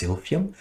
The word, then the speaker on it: Silphium: I hope I'm pronouncing correctly. I believe it's pronounced Silphium.